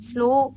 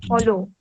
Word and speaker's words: follow: and because he sailed away sailed away like flow slow the flow is the thing that you